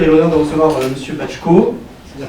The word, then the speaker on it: Baczko: Donc aujourd'hui nous avons le plaisir et l'honneur de recevoir Monsieur Bachko. C'est bien prononcé, c'est bon ?